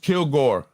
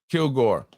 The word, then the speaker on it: Kilgore: Pronounced Kilgore. Kilgore.